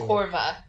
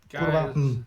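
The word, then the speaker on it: kurwa: If you say the W as like a V, this is like how you say it's it. kurva. Yeah, kurva, hey.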